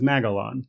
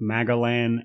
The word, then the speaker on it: Magalan: of changes in Magalon, including how they pronounce the name of the planet, which is Magalon. So in the first game, they pronounced it both Magalan and Maglan. And in this game, they just decided to pronounce it Magalon.